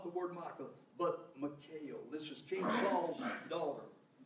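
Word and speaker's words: Michal: The Michael, not Michael, but Michael spirit. M-I-C-H-A-L it's spelled. This is not the word Michael, but Michael.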